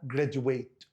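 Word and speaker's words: graduate: عايز اقول يتخرج لو جايه يا فيرب تبقى جراديويت يبقى لو عايزها فيرب يتخرج جراديويت ده لو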